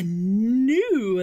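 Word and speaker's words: gnu: a a buffalo guy it's a silent g you don't hear the gut sound at all at all at all a new that's right here is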